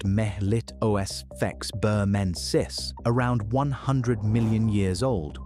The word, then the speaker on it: Melittosphex burmensis: There's an older candidate, a fossil from Burmese amber called Melittosphex burmensis, pronounced melit osfex burmensis, around 100 million years old wasp features and branched hairs suggesting it carried pollen.